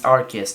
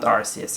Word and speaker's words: Arceus: in pokemon just arceus yes it's arceus not rcs i know i said